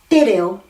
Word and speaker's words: te reo: So I'm flattening my T and making it at the top of my palate going ta, te, to. Tangi, te reo, toto, as in the end of rangi toto.